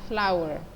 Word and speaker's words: flour: Flour tulisannya flour, bacanya flower. Nah, perbedaannya dengan bunga, sama-sama bacaan flower, beda konteks aja ya.